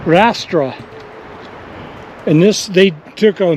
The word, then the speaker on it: arrastra: Arrastra? Arrastra. Arrastra.